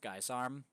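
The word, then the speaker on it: guisarme: Yeah, I guess it's pronounced Geisarm. At least that's how I was told it's pronounced. That's how I've always said it.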